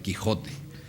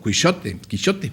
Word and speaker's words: Quijote: pasa al español como Quijote, vamos a decir, porque antes la J en español se pronunciaba así como una ch suave, era Quijote, como también